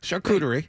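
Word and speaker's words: charcuterie: know how to say the word shakuerie shakuerie there you go with you know just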